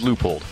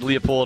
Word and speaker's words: Leupold: We don't care how you say it. If you say Leupold, that's okay, but it's actually Leupold. It is Leupold. Okay. Yeah, I said Leupold until I started working